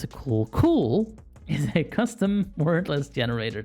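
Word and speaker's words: CeWL: the tools output for specific tasks overview K pronounced cool well I'm pronouncing it C fine I'll pronounce it cool cool is a custom wordless generator tool that spiders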